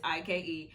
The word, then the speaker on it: Ike: talking about young ike i finally said it right because i was calling him young guy first y'all because of what he told me it is i but it's ike and one thing about